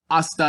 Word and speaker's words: hasta: hammock or hammacher it's this h is completely silent at the beginning of our sentence hasta luego see you later